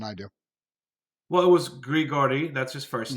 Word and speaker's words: Grigory: Well, it was Grigory.